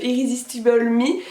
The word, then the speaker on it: Irresistible Me: les extensions du site irrésistible mi bon je prononce la française he mais je sais que ça se prononce plus irresistible mi mais c'est pas grave du coup j'ai découvert